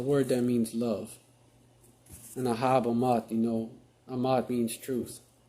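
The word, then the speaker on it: אחאב: you go it's a it's aab in in the Hebrew Ahab is just a English English pronunciation of it and and you know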